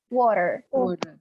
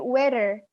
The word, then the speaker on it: water: Kalau American, T pasti dibaca soft D. Jadi D cuman agak soft sedikit gitu. Jadi water. Ya, tapi jangan sampai jadi weather. If you pronounce like weather in bahasa means cuaca. Jangan sampai weather, oke? Okay? Tapi water, bukan weather.